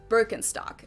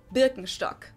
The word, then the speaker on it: Birkenstock: the world nowadays and it's natural that people pronounce it with their native accent so English speakers usually say burkenstock in German we say Birkenstock Birkenstock Birkenstock which literally translates to Birch stick